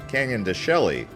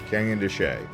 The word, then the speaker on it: Canyon de Chelly: It almost looks like it's pronounced Canyon de Chelly. Nope, Canyon de Chelly. Look at that sheepdog doing his job there. But yep, here we are pulling up into the Canyon de Chelly National Monument area.